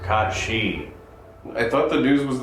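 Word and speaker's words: Cait Sith: oh yeah have you guys heard the news Kate Sith is pronounced Kat shei I thought the news was that it's pronounced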